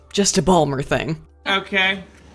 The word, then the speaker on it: Baltimore: innuendo it's just a balmer thing okay pronounce that word baltimore ball more b-a-l-m-e-r the point is even